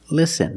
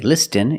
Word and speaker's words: listen: have patterns letter patterns where the t is silent example listen and fasten you see s t en with this spelling pattern you can see the t is silent listen we don't say listen it's listen and fasten